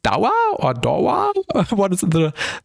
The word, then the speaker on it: Dawa: Is it pronounced Dawa or Dawa?